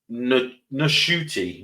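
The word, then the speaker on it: Ncuti: but H yeah it's NTI NTI gwa NTI I gotta get used to saying it because apparently you're supposed to pronounce the N apparently his mother was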